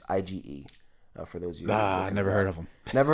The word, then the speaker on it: Ige: Santiago and Dan I don't know how to pronounce his last name i Gor EGH it's IgE for those yeah I never heard of him